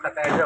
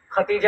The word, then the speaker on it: خدیجہ: حضرت خدیجہ، اس کا صحیح تلفظ خدیجہ ہوتا ہے، ختیجہ بھی کہہ دیتے ہیں، چلو کامنلی جو بول دیتے ہیں۔ اچھا، تو حضرت خدیجہ